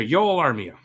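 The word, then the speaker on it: Joel Armia: that it's a d-plus for me joel armenia yolo armia that's how it's pronounced d-plus 60 games six goals eight assists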